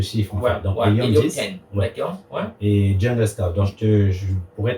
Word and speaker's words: Jungle Scout: a un qui s'appelle ce sont des logiciels américains donc je vais les prononcer en anglais ou jungle scout jungle comme la j jungle ok jungle scout jungle scout noté j ouais et le deuxième